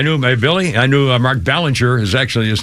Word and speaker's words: Belanger: And as by the way, it's B-E. It should be Bellinger, but it's pronounced Mark Ballinger.